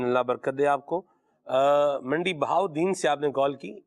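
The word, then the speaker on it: منڈی بہاؤالدین: تو یہ اس پر جب الف لام آئے گا تو وہ تلفظ، اس کا لام کا تلفظ جو ہے وہ نہیں ہوگا. ٹھیک ہے. جیسے منڈی بہاولدین یہ درست نہیں ہے، یہ بنے گا منڈی بہاؤدین.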